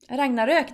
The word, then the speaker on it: Ragnarök: Ragnarök. That's how you say it. Ragnarök. That's how you actually say it. That's like the Swedish way of saying, or the Nordic way of saying it.